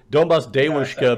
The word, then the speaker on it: Donbass Devushka: Donbass Devushka, because that's how she pronounces it. It's like Daewoo from you know, the Korean company.